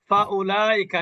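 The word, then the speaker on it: أُولَٰئِكَ: কি উচ্চারণ হবে না এই ওয়াও এর কিন্তু উচ্চারণ হবে না বুঝেছেন এখানে তাহলে এটা কিন্তু উলাইকা উলাইকা হবে উলা হবে না উলাইকালাইকা এই খাড়া জবরটা কিন্তু লামের উপরে।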